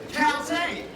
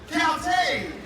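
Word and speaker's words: Kaltxì: about everybody, the Na'vi word for hello is Caltech. So let's all try that. Caltech! Caltech! Very nice. That was excellent. Excellent pronunciation there, sir.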